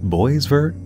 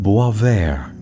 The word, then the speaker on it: Boisvert: addressing it is it boys vert boyvert boyver if you look around online it seems to be French and is actually pronounced boisver I'm going to go